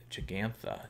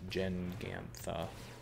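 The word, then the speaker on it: Jegantha: this we got you Jake jig antha jig ants the deck I got that right finally by the way you can check out the video of me probably mispronouncing that a million times I think I said Jen Gant Giganta so we can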